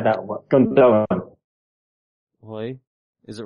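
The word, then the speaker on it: Gündoğan: Yeah, please don't say that word, Gundogan. Why? Is it wrong? Yeah, it's Gundogan. Gundogan, okay. Yeah, you don't pronounce the second G, it's got a thingy over it.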